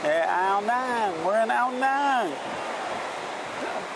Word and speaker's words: Ao Nang: How do you say it? Ao Nang. Ao Nang. Yes. Yeah, Ao Nang. We're in Ao Nang.